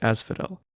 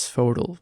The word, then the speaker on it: Asphodel: the vast fields of Asphodel which in my mind was always pronounced as fodal but I guess not Hades normally keeps them